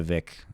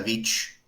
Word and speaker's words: Vic: like a very Vendetta Vic move. I don't know. It's just I always pronounce it like in my head like Vendetta Vich. Oh, really? Like there was a ch at the end.